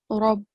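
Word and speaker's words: ربنا: So the next exception is the letter ra, and the letter ra should be pronounced with a broad and thick sound in the following cases. So firstly, if the letter ra carries a fatha, as you can see in this example, Rabbana.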